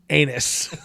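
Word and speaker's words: Aenys: spelled the anus no it's spelled like a e n y s which is anus anus targaryen um and then uh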